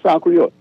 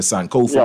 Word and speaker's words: Sankofa: SANK OFA. Okay. Flamingo. Okay. Her name is San Creole. No, it ain't Creole. It's African from Ghana, actually. Sankofa is what you call an Adinkra symbol, the Sankofa bird.